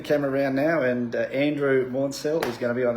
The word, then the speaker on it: Maunsell: finally met up with Andrew Maunsell. That's the correct pronunciation. Andrew Maunsell.